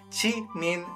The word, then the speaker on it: Jimin: Hoje vamos falar de roupas feias até o time usar eu sei que escreve de mim mas